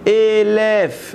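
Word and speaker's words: אלף: On voit ça, parce que le mot Aleph peut se prononcer Elef, 1000.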